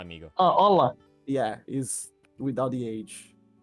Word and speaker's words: hola: the age it's just hola amigo H amigo oh hola yeah is without the age I mean they don't pronounce the h anyway so you know what's